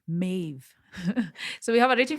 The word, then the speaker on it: Maeve: Maeve. Yeah. I always feel weird saying the E at the end. Maeve.